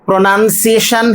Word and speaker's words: pronunciation: Here we have 4 syllables, pronunciation. So this is the correct spelling and correct pronunciation, because this is the noun version of the verb pronounce. So in the spelling pronounce, we get P-R-O-N-O-U-N, but that O is dropped here.